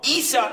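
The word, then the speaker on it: عيسى: Jesus Jesus is in the Quran right wrong Isa is in the Quran and it's spelled Isa Isa now as as those from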